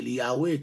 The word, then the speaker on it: Yahweh: On connaît ce nom imprononçable de Dieu, c'est YHWH, qui encore nous prononcer Yahweh, qui est substitué lui par Adonai, mais parfois utiliser chaque lettre ça yo pour capable encore faire et encore système encore.